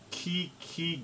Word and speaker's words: QiQi: today we're playing armist on a website called key key games which is spelled q-i-q-i games anyway it's a site that